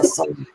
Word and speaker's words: Saloom: Am I pronouncing that correctly? Saloom? Hi, yes, it's Saloom.